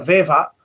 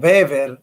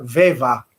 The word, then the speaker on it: Weber: Ver se pronuncia Weva, ¿no? Porque en alemán es A, ¿no? Entonces, en general nosotros decimos Weber o Weber, pero en realidad se debería pronunciar Weva, así, ¿no?